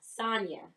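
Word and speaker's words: Sanya: Sonya.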